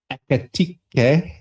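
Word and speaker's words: Ekitike: signed that chap who I'm going to call Ekatike.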